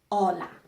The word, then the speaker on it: hola: We don't pronounce the H. Hola.